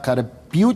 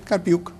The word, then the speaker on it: Carpi: garcé y carpi se pronuncia así carpi carpi son los coordinadores Son